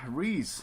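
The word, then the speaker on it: Rhys: really good choice uh Rees hello I think it's pronounced Reese I think it's Reese yeah I'm just going to back out that is Reese uh so ree is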